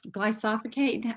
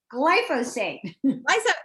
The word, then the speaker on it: glyphosate: about a lot is the glycosidic glycophocate i never can pronounce it i'll help you out it's glyphosate yes roundup and we've